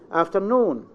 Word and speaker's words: afternoon: Afternoon. The stress is in the second.